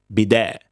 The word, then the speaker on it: bidet: Bidet is an Italian word. No, it's a French word. You can tell because it ends with a T that you do not pronounce. That's a French thing. Bidet.